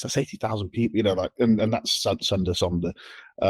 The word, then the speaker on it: sonder: There's that term sonder or sunder, S-O-N-D-E-R. It's like wonder, but sunder.